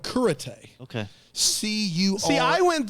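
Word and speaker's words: Cúrate: It's called Kurate. Okay. C-U-R. See, I went there and I was expecting to be taught karate, but it didn't quite work out. It's spelled curate, C-U-R-A-T-E, but it's pronounced curate.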